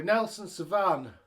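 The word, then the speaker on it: Nelson Sauvin: So, Nelson Savan, that's how you say it, at 60 minutes.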